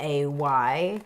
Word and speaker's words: Boublay: So it's spelled, in the end, we spelled it Boublay.